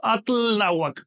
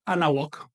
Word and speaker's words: Anáhuac: Por ejemplo, cuando uno atl con náhuatl, le elimino el sufijo TL. Así que no digo atl náhuatl, no, digo anáhuac.